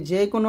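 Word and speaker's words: ظاء: লাগিয়ে পাতলা করে জাল আর যা উচ্চারণ করতে হবে জিহ্বার আগা সামনে নিচে দুই দাঁতের মাঝে লাগিয়ে যা এরকম তার মানে এখানে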